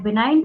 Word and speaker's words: benign: एक है बिनाइन tumour और दूसरा है मैलिग्नेंट ट्यूमर। एक है बिनाइन ट्यूमर्स, BENIGN, जी साइलेंट होता है यहाँ पे, बिनाइन ट्यूमर्स।